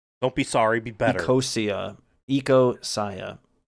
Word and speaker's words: Ecosia: I was using Acacia instead of Google. It's Ecosia.